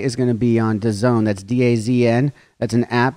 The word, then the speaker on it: DAZN: It's pronounced DAZN. It's DAZN.